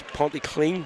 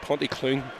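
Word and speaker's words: Pontyclun: devils not about pronunciation it's panty clean not ponty clean that's the accent martinez the accent i'll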